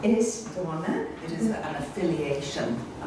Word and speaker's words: Aosdána: She currently teaches poetry at Galway University, and in 2001 she was elected, and I do not know how to pronounce it. Aosdána. Aosdána.